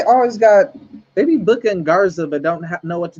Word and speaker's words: Angel Garza: The little like the Spanish dude, Angel Garcia. It looked like it looked like they starting to go with Bad Bunny and Angel Garcia. You know, Garza.